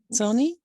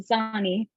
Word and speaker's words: Zani: Zoni? Saying your name wrong, I'm sorry. Yeah, Zani. Zani? Yeah, you were close.